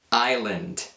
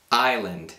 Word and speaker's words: island: sapere e anche Come conoscere in italiano si pronuncia questa parola così No no poi abbiamo Kn knc Che vuol dire bussare knc Island Island Che vuol dire Isola Island Sword Sword Che